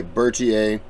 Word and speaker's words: Berthier: marshall by the way bertier is how you say his name i just listened to